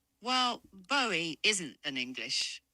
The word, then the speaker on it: Bowie: As for David Bowie, well, his name's pronounced Bowie, like the American buoy.